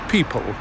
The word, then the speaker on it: pipal: Uh but anyway, that's what a people is. It's pronounced the same way as people, as in lots of men and women.